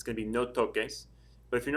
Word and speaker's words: toques: to spell it, and if you find yourself writing T-O-C-E-S, that would be pronounced no toses. But we're going to keep the k sound in there, so it'll be no toques with the Q-U-E-S.